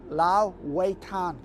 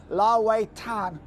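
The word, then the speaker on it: 老外滩: It's called Lao Wei Tan, which means old bun. But you need to be very careful how you pronounce it, because if you pronounce it Lao Wei Tan, it means foreigner beach.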